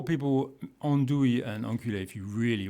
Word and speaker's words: andouille: Okay, so let's have one more pronunciation lesson. Merde. Merde. Andouille.